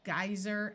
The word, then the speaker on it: geyser: have survey and convey in these two words the ey will have a long I sound geyser and I a geyser